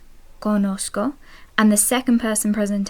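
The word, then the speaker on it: conozco: I know would be Kosco Kosco and the second person present tense you know would be kosis kosis now notice the Zed in Kosco is pronounced like an S Kosco and that's if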